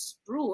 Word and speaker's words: Sproul: My name is Sproul. It rhymes with cool.